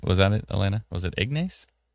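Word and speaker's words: Ignace: Was it Ignes? Ignis. Ignis like Ness. Like Nes Ss. Ignis. Yeah, you don't you don't pronounce it the ace. It's too bad because it's it's written ace, but okay.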